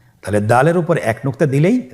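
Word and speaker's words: دال: দাল হরফটিও বারিক হরফ। উচ্চারণ করার সময় অবশ্যই 3 আলিফ টেনে পড়তে হবে। দালের মাখরাজ হলো জিহ্বার আগা সামনের উপরের 2 দাঁতের আগার সঙ্গে লাগিয়ে উচ্চারিত হয়।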